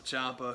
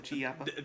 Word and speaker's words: Ciampa: And then you had the main eventer with Johnny Gargano and Tommaso Ciampa, whose name I always want to pronounce like it begins with a G, but I said it right that time, and I'm happy.